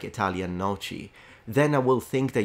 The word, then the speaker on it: noci: And imagine people say noci, and this, yeah, noci is how it's usually pronounced by those who don't speak Italian.